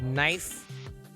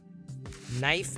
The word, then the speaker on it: knife: weird language where sometimes you don't say every particular letter like knife knife as in lone mountain knife company knife you don't pronounce the i'm teaching jedi or